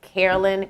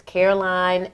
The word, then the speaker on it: Caroline: Carolyn. That is Caroline, and her last name is spelled.